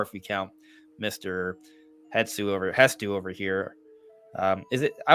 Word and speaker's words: Hestu: but Hestu is the correct way to say it. Oh, Yeah. well, So that's the thing. Hetsu feels more natural to me, but it's Hestu.